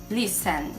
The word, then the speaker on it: listen: de escutar ou ouvir, listen, sem o T, listen.